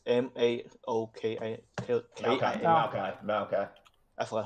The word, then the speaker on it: Maokai: Maokai.